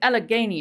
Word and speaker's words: Allegheny: Kelly also said Allegheny is how it's pronounced.